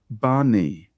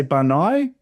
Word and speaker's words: Bani: Sherebiah, Shebaniah, Hodiah, Bani. Again, with Bani, you could say Bani. Bani, doesn't matter. Just again, make your choice.